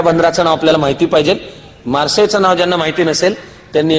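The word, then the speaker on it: Marseille: सालचा ते मार्सेच्या बंदरामध्ये ते जर स्पेलिंग बघायला गेलं तर स्पेलिंगचा इंग्लिश उच्चार होतो मार्सेलिस पण मार्सेलिस नाहीये ते मार्से आणि मार्से हे फ्रेंच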